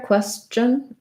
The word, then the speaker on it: question: of missing so the the ch sound is actually a combination of a t and an sh sound so sh the symbol